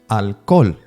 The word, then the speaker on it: alcohol: the best example is alol you will say that in English alcohol but in Spanish you don't pronounce the h as you can see